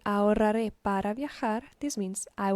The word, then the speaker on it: ahorraré: This H is silent, so don't pay attention to it. Then the WR. Ahorraré. Ahorraré.